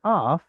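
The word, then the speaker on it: אַף: Does anyone know the word af? Nose. Nose. The word nose, af, is a seglet. Only problem is the nun is weak and disappeared.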